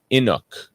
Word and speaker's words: Inuk: simon is not actually a full-blood inuk is how you say that so inuit is the